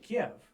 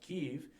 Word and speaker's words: Kyiv: But up until Russia invaded Ukraine, everyone in the West pronounced it Kiev. Now, I understand in Ukrainian it is pronounced Kyiv, but historically, even going back to the Vikings that settled in the area, it was the Kievan Rus.